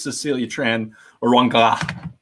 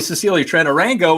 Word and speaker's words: Cecilia Tran Orango: But I think it's Cecilia Tran Orango. I told her I was going to mispronounce her name. It's actually Cecilia Tran Orango, and here she is.